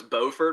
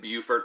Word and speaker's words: Beaufort: So it's Beaufort for north and Beaufort for south, but it's spelled the exact same way. And yeah, it's just interesting the way it's pronounced differently, even though it's the exact same word essentially.